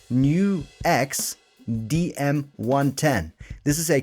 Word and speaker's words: NUX: And in this video, we'll talk about the Nooks or NuX or how it's actually pronounced, New X DM 110.